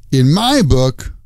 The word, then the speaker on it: in my book: mean in my opinion when you use this phrase the stress is on the word my in my book in my book like that here are some